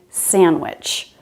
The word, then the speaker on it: sandwich: It's not uncommon to drop the D after N, so that's what's happening in sandwich.